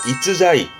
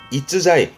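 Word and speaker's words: 逸材: 그래서 지금의 일제라함은 뛰어난 인재를 말하는 발음은 2번에 이즈자이 이즈자이 요게 뛰어난 인재를 말하는 일제 한자가 되겠습니다.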